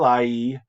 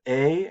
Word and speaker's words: hais: But then il haïs, it's I pronounced that wrong. It's je hais and tu hais and il hais.